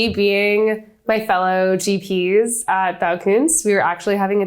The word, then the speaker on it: Baukunst: And we're going to get into greater detail, of course, around Baukunst. I want to make sure I'm saying it right. Is that Baukunst? Baukunst.